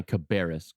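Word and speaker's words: Cabarrus: on top of all that in your county cabis county is how it's pronounced thank you Brian no problem you know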